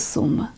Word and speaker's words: su:m: it's simply known as Serum. They don't pronounce the 37.